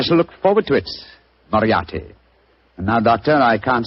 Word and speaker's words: Moriarty: My name is Murtry. Oh, indeed. Spelled M-U-R-T-R-Y? No. Dear me, I have so much trouble with my name. People will either misspell it or mispronounce it. I'm afraid I'll have to begin calling it the way it looks. M-O-R-I-A-R-T-Y. Moriarty. Moriarty.